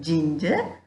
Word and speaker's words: ginger: In the word ginger, beginning G and middle G both you hear as J sound.